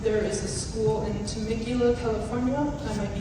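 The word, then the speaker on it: Temecula: I mean, I do want to note that this month there is a school in Tmicula, California. I might be mispronouncing Tmacula.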